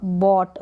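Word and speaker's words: bought: वह बॉट, बाय की second form है ये बॉट, बाय का मतलब खरीदना, बॉट का मतलब खरीदा, तो यहाँ पर GH साइलेंट है।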